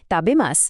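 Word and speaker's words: たべます: আরেকটা বিষয় খেয়াল রাখতে হবে, তাবেমাস বলার সময় শেষের উ ধ্বনিটি একদম অনুচ্চারিত থাকে, অর্থাৎ কথা বলার সময় অত্যন্ত স্বাভাবিকভাবে ও দ্রুত লয়ে এটি তাবেমাসের মতো শোনাবে।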